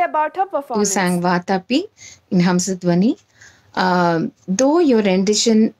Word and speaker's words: Vatapi: In most parts it sounded like Vadapi, whereas it's Vatapi Ganapatim. It sounded like Ganapatim in some places.